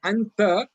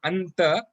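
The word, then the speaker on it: أنت: You have to take it with the nose and then pronounce it. So that's why it is not anta. It is anta, anta. The sound should come from the nose.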